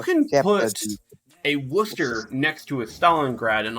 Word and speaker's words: Worcester: Okay, Worcester. thank you for pronouncing it correctly.